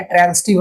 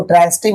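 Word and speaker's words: transitive: एक होता है ट्रांजिटिव वर्ब और एक होता है इंट्रांजिटिव वर्ब। ठीक है, इसको ट्रांजिटिव मत कहिएगा, ज मत कहिएगा, स कहिएगा, क्योंकि हम लोगों को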